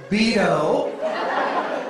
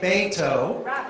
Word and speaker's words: Beto: we have to do it in a way that corrects all those mispronunciations of Beto's name, right? And so you've heard people say Beto, and remember Ted Cruz used to deliberately mess it up. He'd say Beto, but you know how